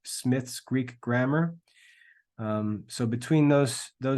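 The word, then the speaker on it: Smyth: It's spelled with a Y, S-M-Y-T-H, Smith's Greek Grammar.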